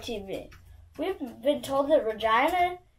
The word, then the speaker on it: Regina: We've been told that Regina is the city that rhymes with fun for some reason.